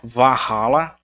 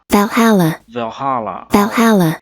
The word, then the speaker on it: Valhalla: Esse A aqui, ele vai ter esse sonzinho, é uma mistura de E e de A. Então não é Valhalla e nem Valhalla, mas Valhalla. É mais um som puxado pro E do que pro A.